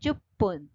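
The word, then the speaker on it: じゅっぷん: और देखो इसका मीनिंग, जुप्पुन, जुप, ये देखो ये जो चू छोटा है इससे पू का डबल उच्चार होता है और ये क्या है? जू बूंद मतलब इनफ, जू बूंद इनफ। इसमें उच्चारण से गड़बड़ हो सकता है और आपको ये अच्छे से रीड करेंगे तो उच्चारण में गड़बड़ नहीं होगा। जैसे जुप्पुन मतलब 10 मिनट्स और जुबुन मतलब इनफ।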